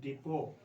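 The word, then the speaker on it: depot: This is डिपो, T silent है।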